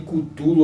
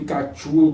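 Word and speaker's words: Cthulhu: vários tá pessoal chamado chamado de cutulo ou de tulo como vocês preferiram porque ninguém sabe até hoje nenhum pesquisador entrou em consenso e como se pronuncia essa palavra que que bicho é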